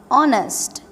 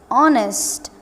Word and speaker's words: honest: For example, we have honest, honest, honest. We are pronouncing it honest. We are not pronouncing the H here.